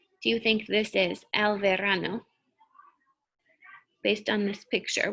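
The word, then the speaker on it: hay: those pictures this one is a little bit tricky but look here what's happening you can also say i viento like i on your face i but it's spelled h-a-y so if you will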